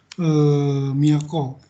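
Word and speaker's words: 京: Yang pertama adalah kanji miyako atau kyo. Ini bacanya ini kyo. Kadang-kadang dibaca juga miyako.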